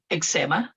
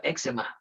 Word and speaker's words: eczema: I've heard candidates say, ano ba yun? Eczema. Pero it should be a bit different, diba? Eczema dapat siya.